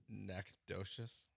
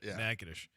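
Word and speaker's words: Natchitoches: Nakosious, but that's not how you say it. Kind of close. Nagish. Nagadish.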